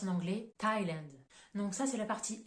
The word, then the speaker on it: Thailand: vous donne pour le pays Thaïlande ça se prononce en anglais Thailand donc ça c'est la partie exception où on